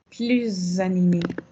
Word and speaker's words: plus: Qui me dit la prononciation correcte? Plus animé.